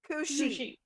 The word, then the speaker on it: Cu-Sith: say it is it Q Sith or suth so it's it's C cooi oh not coochi cooi it's like a banshee cushi cushi okay definitely not gonna